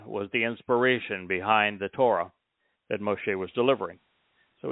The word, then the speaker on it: Torah: Torah. The O sound in Torah comes from the Wah.